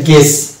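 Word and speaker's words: guess: colleague কলিগু এরকম না colleague এরকম হচ্ছে এটা গেস এটা বুইয়েস না গেস অর্থাৎ ইউ তাহলে এটা হচ্ছে ই এর উচ্চারণ আছে তাহলে এটা হচ্ছে কলিগ গেস্ট পুনর্ভাব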